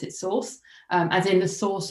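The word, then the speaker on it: SORSE: online series of events called Source or I pronounce it Source um as in the source of all RSC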